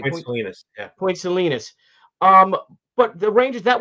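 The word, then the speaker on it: Point Salines: do you how do you say selus yeah Point selenis um but the Rangers that wasn't the Rangers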